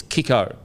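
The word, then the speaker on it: Kikau: brent naden and now kick out oh sorry it's kiko it's kiko apparently it does in the comment section well that's what he said he said it's kicko and stop saying his name wrong we've also got uh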